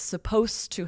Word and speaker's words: supposed to: And this is interesting because even though it's written with that ed, we drop that when it's followed by to. That to kind of replaces Supposed the to. sound. Right. Supposed to. Supposed to help.